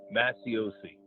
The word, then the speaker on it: Macioce: Yeah, this is Masiosi. Can you spell that, please, for the stenographer?